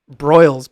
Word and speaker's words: Broyles: or something like that it was uh jack broyles but spelled like like on an oven yeah jack uh the